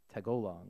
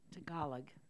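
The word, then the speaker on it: Tagalog: that they were speaking from the Philippines was tagong I think I pronounced that right was that correct tagalag tagalag it's a language that they do but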